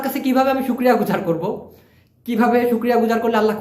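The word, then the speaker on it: korek: তো চলুন ভিডিও শুরু করা যাক তো দর্শক প্লিজ খেয়াল করে দেখুন এক ভাই প্রশ্ন করেছেন করে অর্থ কি করে এটা মালয়েশিয়ান ভাষায় সঠিক উচ্চারণ হবে করে লাস্টে একটা ক আছে এটার মানে হচ্ছে খুঁচিয়ে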